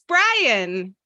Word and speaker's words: Brian: Their name rhymes with lion. It's Brian.